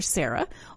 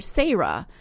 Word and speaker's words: Sarah: from in Appalachia that there are two ways to pronounce my name it's either Sarah or sah and he just wanted